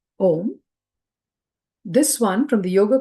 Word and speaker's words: om: with the sound uh with the sound U it is opened up by the sound m m it obtains sound and the half syllable is still so remember when we talked about Matra the a Matra is a full Matra is the whole F whereas m is only half we say om we don't say ma